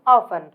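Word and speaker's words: often: तो अक्सर that means ऑफ ठीक है ऑफ इसको आप ऑफ्टन नहीं पढ़ेंगे इसको आप ऑफ पढ़ेंगे because T is silent T यहां पर साइलेंट है इसलिए हम इसको ऑफ पढ़ेंगे फॉर एग्जांपल ऑफ अक्सर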